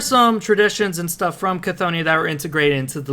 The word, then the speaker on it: Chthonia: So how do they pronounce that? Chthoniya, like Cthulhu.